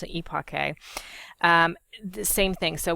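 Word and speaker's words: epoché: on phenomenology or EPA yes that's how you pronounce it eake um the same thing so what that means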